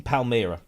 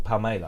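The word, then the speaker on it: Palmela: like that it's in Palmyra in uh or palmella I think is the the way you pronounce it palm Mailer in Portugal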